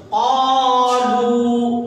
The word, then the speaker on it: قالو: قالو. قاف کو بھی کھینچیں گے. قالو قالو. پیش کی آواز ہمیشہ آگے جاتی ہے. قاف الف زبر قا، لام واو پیش لو. قالو. یہ الف پڑھا نہیں جائے گا.